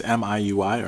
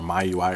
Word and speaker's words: MIUI: we're going to use MIUI or my UI or Mi UI if you're to pronounce both those ways to uh we're going